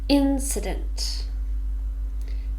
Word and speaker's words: incident: not a rural area incident this is a noun and it has three syllables Andrey stress the first one incident incident is